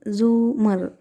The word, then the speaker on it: زمر: بھی ملاقات ہوئی تھی۔ اس نے البتہ زمر کا نام غلط تلفظ سے بولا تھا، رے کے اوپر زبر کے ساتھ اف۔ اٹس زمر، زومر، زے کے اوپر پیش ہے، اس نے توڑ توڑ کر بتایا۔ وہ خاتون اچھا اچھا